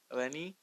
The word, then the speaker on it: Ellenie: who let me see if I pronounce it elenni yeah Eleni is that my pronunciation sometimes you know I'm saying um Eleni